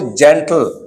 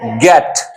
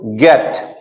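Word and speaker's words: get: ये देखिए बेटा, यहां पे हमने पढ़ा इसको जेंटल, लेकिन ठीक इसके नीचे जी ई टी, तो क्या पढ़ोगे आप इसको? गेट। इसको जेट तो नहीं पढ़ रहे हो आप, इसे क्या पढ़ रहे हो? गेट।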